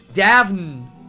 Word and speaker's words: Daphne: Oh yeah, it's Daphne. That's Greek? Huh. Okay. Interesting then. But yeah, that's what, like, one name that I remembered that has like an NE at the back that just goes knee.